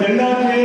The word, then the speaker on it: தென்னாடு: இதை தென்னாடு என்றுதான் உச்சரிக்க வேண்டும்.